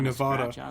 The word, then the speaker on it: Nevada: how you pronounce it i'm a midwesterner this is how i say it run by a fella